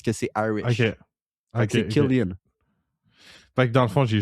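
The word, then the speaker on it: Cillian: It's Irish garlic as always pronounced as K parce que c'est Irish. OK. C'est Killian Fa dans le fond j'ai juste écouté les gens qui prononçaient mal c'est tout.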